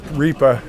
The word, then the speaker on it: Riippa: Riippa is how you pronounce the last I'm sorry.